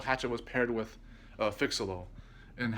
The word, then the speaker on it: Phixeleaux: be that pale hatchet was paired with a fix-a-loll and how you spell that is p-h-i-x a-l-e-a-u-x so fix-a-little-wise would chronologically